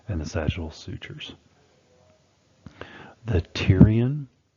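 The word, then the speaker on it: pterion: The tyrion that P is silent. So it's the tyrion suture is the junction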